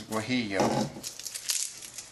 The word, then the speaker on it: guajillo: And then we found out the name of the pronunciation of that pepper. It's guajillo.